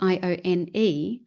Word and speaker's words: Ione: get her name correctly, Ione Wells, spelled Ione, Mm-hmm. but I think the female version of it is pronounced Ione.